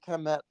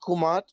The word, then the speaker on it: Kemet: Afrocentrics love saying Kemet, but we've always pronounced it Kumat, which because we didn't have vowels.